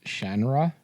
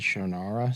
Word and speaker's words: Shannara: And the way you're supposed to pronounce it is Shandra. Yeah. That's the way the author intended it to be. Shra. Yeah. But everybody says Shaara.